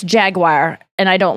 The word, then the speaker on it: Jaguar: jaguar there say yeah there's three ways that people say it like people that want to sound fancy in British go Jagua like jagu Dracula Jaguar Jaguar yes and then there are people who say jaguar which I believe is the way to